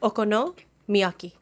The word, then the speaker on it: Okonomiyaki: Okonomiyaki.